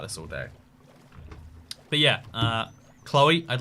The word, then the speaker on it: Chloe: Cat's next story, how he got punched in the face by someone called Chloe. Or Chlo, as it should be pronounced.